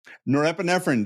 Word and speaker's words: norepinephrine: the name of because I figured out the pronunciation which is really difficult norrine norepinephrine that's the one Sarah Sarah would awesome love